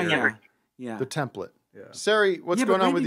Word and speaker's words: Sari: Well, first of all, it's Sari. Thank you, Matt. What did you say? My name is Sari. Sari. Yeah. Okay, but you spell it S-A-R-I. Yeah. So add an H if you want me to say Sari, and I'll say it happily.